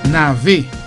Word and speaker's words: nave: Nave. N-A-V-E, pronounced as A. Nave.